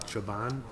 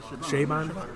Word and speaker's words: Chabon: I don't know how you pronounce it. Chabon, Chabon. Oh yeah, the author, Shaman. Michael Chabon.